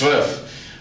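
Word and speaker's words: zwei: swi almost like TS V RF but it's pronounced swi um what you should try to do in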